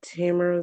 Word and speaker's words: Tamara: Would you raise your right hand, state your name for the record, and spell it first? Miss. Uh Tamara.